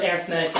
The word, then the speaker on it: arithmetic: lessen the number of arithmetic errors that you have arithmetic is how you pronounce arithmetic when you're using it as an adjective there's your English lesson